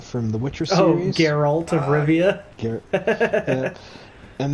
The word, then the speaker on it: Geralt: Garrett, however you say his name, of Rivia from the Witcher series. Oh, Geralt of Rivia.